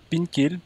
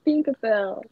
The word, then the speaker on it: Pink Pearl: as une seconde marque, Pinkel, je crois que c'est Pinkel. Bon, je sais ouais, pas, la prononciation, hein, c'est Pink Pearl.